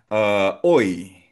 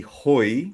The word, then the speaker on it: hoy: expressiones del so expressions Oy. Oy. So oy is ah silent H po yan ha. Hindi hoy kundi oy today.